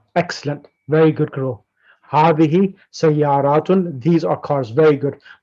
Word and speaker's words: سيارة: Sayaratun. سيارات. What does that mean? Cars. Correct. So which one would you use now for that? Is it هذه? MashaAllah. Excellent. Very good, girl. Hadihi sayaratun.